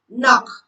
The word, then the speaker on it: knock: The letter K is silent when it comes before N at the beginning of a word. For example, knock.